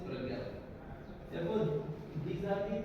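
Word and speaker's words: Pañña: Spelling P-N-N-A, but its pronunciation is Pragya.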